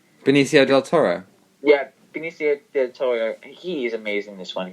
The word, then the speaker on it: Benicio del Toro: did you say his name del toro yeah benicio del toro he is amazing this one he's uh very